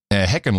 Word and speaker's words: Hickenlooper: Amy Klobuchar, yeah, Kamala Harris, Bernie Sanders, John Hickenlooper. Hickenlooper. Well, it's a Dutch name. Heckenloper.